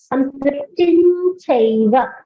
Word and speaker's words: Sanskritim chaiva: to observe is Sanskritin, there's a dot on top, and then Yes. you have chaiva. So because of that, the pronunciation goes like this. Sanskritin chaiva, because we are saying it together.